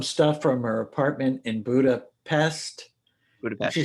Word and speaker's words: Budapest: from her apartment in Budapest. Budapest. She says Budapest. No, Yeah. it's Budapest. Right. You know, so that's the Hungarian pronunciation.